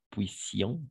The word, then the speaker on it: puissions: Mais au moment de trouver le double S, on va prononcer sans vibration, comme je fasse, tu fasses, que je puisse, etc.